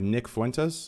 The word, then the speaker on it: Nick Fuentes: destiny into the right of Sargon we have Nick Fuentes the deference that pronounced like correctly for instance yes correct correct